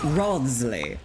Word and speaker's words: Wriothesley: How do you pronounce it? Wriothesley.